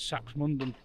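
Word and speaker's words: Saxmundham: So now I know that the locals pronounce sachs as saks mundon.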